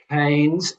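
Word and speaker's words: Keynes: listening canes is pronounced canes as in brains.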